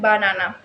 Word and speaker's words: banana: In the word banana, the first and last syllable are understand banana.